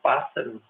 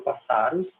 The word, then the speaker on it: pássaros: a gente sabe que pássaros eu falo pássaros Eu não falo passaros nem passaros então como eu falo